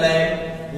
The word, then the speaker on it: lamb: इसको पढ़ेंगे, यम के बाद बी आया तो लैम्ब, लैम्ब मींस मेमना।